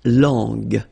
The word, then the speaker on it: langue: Okay, so you get to put this U between the two to get the sound G, G. So you get la langue, langue.